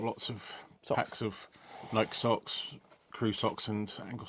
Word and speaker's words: Nike: So I bought some very light shorts from Nike, or Nike as they pronounce it.